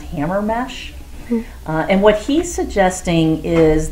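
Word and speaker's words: Hamermesh: The researcher was Daniel, I believe it's pronounced Hammermesh.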